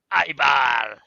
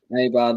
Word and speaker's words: Eibar: How do you pronounce that? Eibar. Eibar.